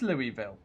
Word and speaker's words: Louisville: or something like that Yakko says Louisville oh so it is Louisville you see that's what I would have said but then I'm sure one of you guys told me not to pronounce stuff the Frenchy way or was that just confusing you just a different place in America that doesn't apply the French rule and then this one